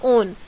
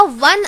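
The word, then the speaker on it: one: है ओ एन ई अगर हम लोग इसे ओ की तरह प्रोनाउंस करेंगे तो इसे कहा जाएगा ओन लेकिन हम लोग इसमें डब्लू की तरह प्रोनाउंस करते हैं यानी कि अ ₹1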